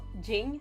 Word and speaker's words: Jing: can't pronounce it well like Jing like it's not gin like it's space like